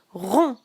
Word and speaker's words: rond: Rond. Et ici le D et le S sont des lettres muettes.